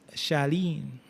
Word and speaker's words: Charlene: You have C H A R L E N E being pronounced Shalene.